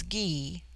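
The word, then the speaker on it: Gy: the singular with man the word for woman is GE pronounced hard as in guy it forms itself into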